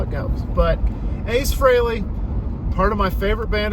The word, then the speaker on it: Frehley: Frehley, everybody. That's how you pronounce it. Not Freely, Frehley.